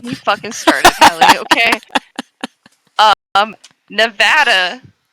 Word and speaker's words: Nevada: Nevada, right? Nevada. Nevada. We have a town, Nevada. That's how it's said here.